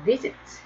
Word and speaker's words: visit: 그래서 일반적인 경우 ed, jump 역시 자음 두 개여서 일반적인 경우 ed, visit 이거 visit 그렇죠. 그래서 일단 단모음 단자음 조건은 만족시키는데 발음이 강세가 앞에 있어요.